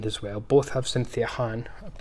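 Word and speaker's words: Khan: Both have Cynthia Han. I'm reliably informed it's not pronounced Can, even though that's how it's spelled, Cynthia Han.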